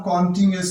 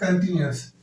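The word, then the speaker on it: continuous: इसे फिर बता रहा हूं, कॉन्टिन्यूअस नहीं कहना, कंटिन्यूअस।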